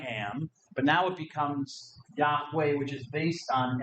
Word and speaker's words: Yahweh: even write the vowels they just gave us the consonant but it might be pronounced Yahweh or yahu we're not sure but Yahweh is the traditional um way that it's um usually given which becomes the